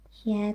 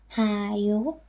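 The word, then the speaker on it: 히: And this will not be pronounced ha-yo, but just he.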